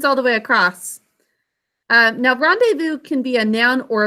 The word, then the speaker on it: rendezvous: both of those and i think i'm pretty sure this pronunciation is similar to other french words when you see that easy together it's an a sound and the ous makes an u sound okay time for our